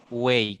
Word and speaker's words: buey: Buey, correcto. Muy bien. La Y, acuérdense que después de una vocal y al final de palabra se convierte en una I latina, pronunciándola. ¿Ok?